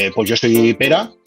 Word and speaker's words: Pere: Pues yo soy Pera, se escribe Pere, pero se pronuncia Pera.